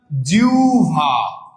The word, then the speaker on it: জিহ্বা: তাহলে এটার উচ্চারণটা কি হবে ভাইয়া? জিহ্বা, জিহ্বা।